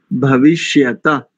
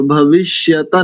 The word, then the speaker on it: भविष्यत्: देखो ना, भविष्यता, तामे तो हलंत लगा है, तो हलंत अक्षर को तो आधा बोलते हैं, जिसके नीचे हलंत लगा होता है उसको आधा बोलेंगे, तो भविष्यता ना करके भविष्यत भविष्यत ऐसा उच्चारण करेंगे।